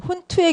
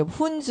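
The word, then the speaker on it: Hund: 이거는 훈수 룰, 훈투의 규칙이라고 우리 발음으로는 하는데 한국 책에서 훈투, 근데 훈즈 룰 뭐 이렇게 얘기하기도 하고.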